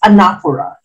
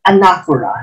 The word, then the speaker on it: anaphora: okay number 34 which of the following employs anaphora it's pronounced anaphora not anaphora anaphora a love is